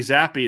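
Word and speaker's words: Zappe: They held Bailey Zappi. It's how you pronounce his name, correct?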